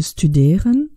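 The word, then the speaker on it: studieren: Pour le verbe « studeren », mon radical est « studer ». Je le sais parce que j'entends à l'infinitif le son « e » long.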